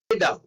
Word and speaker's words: jeder: Jeder. Jeder. Okay. Jeder means everyone. Again, one more important thing. When J in the beginning in German, it will sound like Y. So it is jeder.